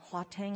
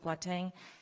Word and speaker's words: Gauteng: I believe they pronounce it Gauteng over there.